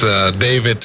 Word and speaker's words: Dawit: All right, so my unofficial is Dawit. David? Yes.. Spell it.